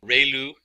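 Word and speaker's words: ReLU: we have the um rayu it's pronounced like Ray the ray of from the Sun and L like a name so Ru function and we have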